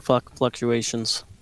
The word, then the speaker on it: fluctuations: Man, I've noticed in my experience in this Platinum tournament, lots of score fluctuations. Well, whatever. Fluctuations. There is an L there. Pronounce the L.